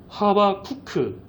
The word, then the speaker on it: 하박국: 하박국도 그런 이름 중 하나지 않을까 싶어요.이 히브리식 이름이다 보니까 어 더 그런 면도 있는데 뭐 호박국, 미역국, 된장국도 아니고 이름이 하박국 이렇게 나오죠. 화박국의 히브리어 본래 발음은요. 하바쿠크로요.